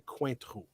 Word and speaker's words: Cointreau: I call it Cointreau. It's technically Cointreau.